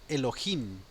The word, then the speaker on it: Elohim: es el número 430 se pronuncia Elohim Elohim y bueno en otras ubicaciones de la palabra dependiendo del contexto también se puede traducir como Ángeles pero bueno aquí está la pronunciación es Elohim derivación del plural 433